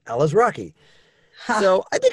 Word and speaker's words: Alazraqui: to help people out i always say starring al as rocky ella's rocky so i think it's